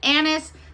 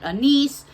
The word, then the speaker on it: anise: some people pronounce it anise some people pronounce it a nice to me it's the